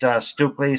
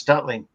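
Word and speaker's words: Stukeley: The father was Stutley Tillinghast, sometimes pronounced Stukely, sometimes Stutley.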